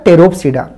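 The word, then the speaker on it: Pterophyta: अलावा क्या होता है तेरो फिदा पी तो के आगे जब भी पी आया ना तो साइलेंट होता है तो तेरो फिदा ये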